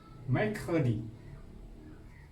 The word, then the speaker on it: mercredi: Rabu, mercredi. Mercredi. Mercredi ejaannya M E.